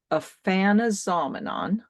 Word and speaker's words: Aphanizomenon: It's Aphanizomenon floss aqua. So Panazoman. think of the word phenomenon, and I actually Oh, yeah.